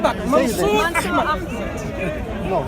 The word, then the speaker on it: Mansur Ahmed: Can't tell what's my name exactly the way my name is to be pronounced. Mansur Ahmed.